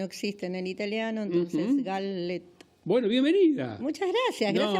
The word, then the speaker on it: Galleta: Curiosidad, es Galleta. Galleta. Es italiano, doble L, la L no existe en el italiano, entonces Galleta.